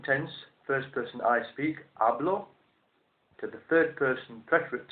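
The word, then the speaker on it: hablo: in Spanish in the present tense I speak ablo h a b l o and then adopting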